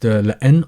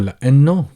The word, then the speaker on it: لأن: It is often pronounced لأن or لأنه, but in terms of the script of the writing, it stays the same, so people don't really